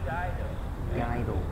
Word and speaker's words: Iaido: I kind of jokingly say Iaido is the most difficult martial art from Japan to pronounce for Westerners. Try it once. Iaido.